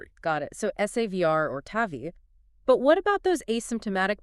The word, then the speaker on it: TAVI: You see the letters TAVI for trans catheter aortic valve implantation. But in practice, everyone in the field pronounces it as one word. Tavi. Ah, okay. Not TAVI, but Tavi.